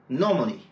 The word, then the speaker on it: normally: Voyons ensemble quelques exemples. « Permanent », « permanently », « govern », « governed », « governor », « governing », « government », « accident », « accidental », « normal », « normally ». À chaque fois, l'accent est placé sur la première syllabe.